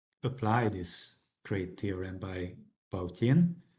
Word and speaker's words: Bautin: Otherwise we cannot apply this great theorem by Bautine. Bautine was Russian, that's why I'm pronouncing his name this way.